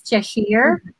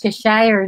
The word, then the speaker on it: Cheshire: Actually, in UK, it's Cheshire, but when you're here in the Philippines, it's Cheshire, no? Nasanay kasi sa Pilipinas, Cheshire, but in UK, because Leonard Cheshire is a person, ano?